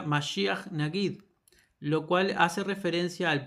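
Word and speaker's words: מָשִׁיחַ נָגִיד: Segundo punto, en hebreo, Mesías Príncipe, a ver, en hebreo, sí, Mesías Príncipe se pronuncia masia nagid, lo cual hace referencia al primero y al último como uno solo.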